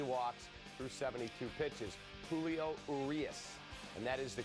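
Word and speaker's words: Urías: three KS 3 walks through 72 pitches Julio arias and that is the correct pronunciation I checked with Sierra Santos it's blue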